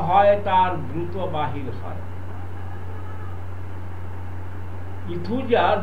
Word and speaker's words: Aethusa: ইথুজা বানানটা বলে দিই, AETHUSA, ইথুজা।